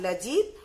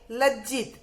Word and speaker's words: लज्जित: तो ये इसमें जो आधा ज है, देखा आपने, एक पूरा ज तो आता ही, लेकिन उसके आगे हमें आधा ज लिखना पड़ता है, जो इसमें लिखा हुआ नहीं है, इसलिए उसका उच्चारण होता है लजित और इसका उच्चारण होता है लज्जित।